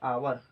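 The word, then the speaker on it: hour: जैसे एन आवर, तो इसे हम क्या पढ़ेंगे, आवर पढ़ेंगे, ये नहीं कि हावर मत पढ़ दीजिएगा।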